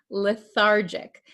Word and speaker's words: lethargic: pronounce this word lethargic remember this is a JJ sound lethargic Okay the patient feels